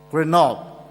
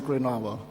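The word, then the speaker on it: Grenoble: in GRE Noble France I thought I always pronounce it as grob and uh I was told it's supposed to be grovo anyway um he is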